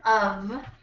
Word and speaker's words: of: Look at the word of and how crazy it is. This is how we say this word. It's not even what we spell it as. Of. Of. So when we say off, if you look down here, off, that stays like a voiceless F.